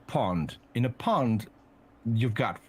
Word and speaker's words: pond: was one british pound the british pound in dutch is pronounced pond in a pond you've